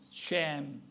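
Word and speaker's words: שֵׁם: 그러면 이름이라고 하는 이 단어는 히브리어로 쉔이라고 하는 발음이 나오는 단어입니다. 쉔.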